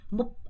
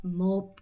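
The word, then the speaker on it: một: 생각보다 여러분이 발음 하실 때 조심하셔야 되는게 이거 발음할 때 몹 아니고 몹 으야 되고요 자 두 번째 이거 할 때도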